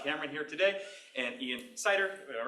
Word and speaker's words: Seiter: Super excited to have Professor Scott Cameron here today and Ian Seiter. All right on that pronunciation?